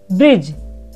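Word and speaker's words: bridge: ब्रिज। तो students, आपने spelling note करी? यहाँ पर डी साइलेंट है, इसलिए ब्रिज बोला गया है।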